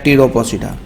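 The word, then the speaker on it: Pteropsida: इस ट्रैकियोफाइट्स की, जिसमें पहली हमारे पास सिलोपोसिडा, दूसरी लाइकोपोसिडा, तीसरी हमारे पास सफिनोपोसिडा, फिर हमारे पास है टीरोपोसिडा, पी साइलेंट बोलेंगे यहाँ पर, टीरोपोसिडा।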